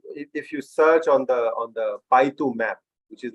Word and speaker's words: Baidu: But then if you search on the Baidu map, which is like BAIDU, Baidu, it is. We call it its Chinese pronunciation is Baidu, but it's primarily Baidu actually. Baidu, that's what the world knows about it.